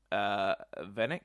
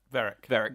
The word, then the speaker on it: Varrick: And obviously also Venick, am I pronouncing Venick right? Varrick with an R.